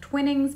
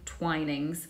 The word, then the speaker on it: Twinings: I've heard it said as Twinings before. It's actually Twinings. So try and say that with me, Twinings.